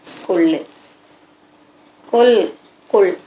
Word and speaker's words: கொள்ளு: கொள்ளு உச்சரிப்பை கவனிங்க. கொள்ளு கொள் கொள். நம்ம குழந்தைங்களுக்கு இந்த ஒலி உச்சரிப்பை கவனிக்கணும். கொல் அப்படின்னா அதுடைய பொருளே மாறிவிடும்.